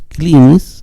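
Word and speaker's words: κλίνης: Porque el autor aquí tenemos clinis, que es la palabra correcta porque así la pone Nestle Aland, clini, y en el texto en el Vaticano escribió clinis también, porque epsilon iota se pronunciaba I.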